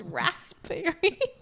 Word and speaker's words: raspberry: That raspberry is spelled with a P. It's raspberry.